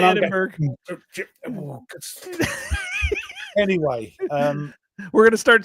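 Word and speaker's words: Edinburgh: This guy was playing it and it was Edinburg. Edinburg. Oh, no. He did not say Edinburg.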